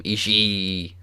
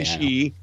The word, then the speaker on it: Ishii: I think also one of my new favorite things is JR pronouncing both I's at the end of Ishii's name. Ishii. Mm-hmm. Well, I mean, that's you're supposed to say Ishii, but I love, it's